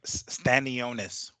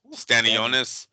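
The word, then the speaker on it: Stanionis: then stanos how do you say it uh stanonis stanonis yeah and then try to get baros into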